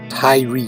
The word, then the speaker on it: Tyre: That is King Hiram of Tyre. Tyre, that is Tyre, pronounced by Americans TYRE, as in Tyre Nichols, who was beaten and killed in Memphis by the Memphis Police Department on January 7th.